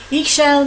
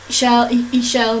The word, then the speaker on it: Ixchel: Ixchel means, I-X, I think it's pronounced E, means goddess or lady, divine feminine goddess, and shell is rainbow.